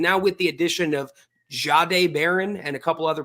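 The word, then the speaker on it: Jahdae: Inexplicably it's Zade Baron or it's more like jade. So the way I now think of it Zach to get it right is I go like this. I pretend that it's spelled Z- A D- A. I just pretend there's a Z there. And remember to kind of zade, not Zade, not a sharp Z. Jade day. Kind of like, but man, it's tough.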